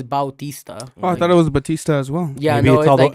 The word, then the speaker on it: Bautista: because I thought yeah I thought it was Batista but no it's Bautista I thought it was